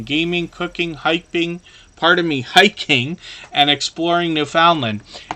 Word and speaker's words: Newfoundland: cooking, hiking, and exploring Newfoundland. And that can be pronounced a couple of different ways, but Newfoundland is the most common way that we hear it around here.